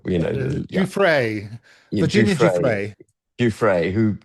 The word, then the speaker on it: Giuffre: That £12 million payment that was made to, I can never pronounce her name, but Guffero, yeah, Giuffre, yeah, Virginia Giuffre.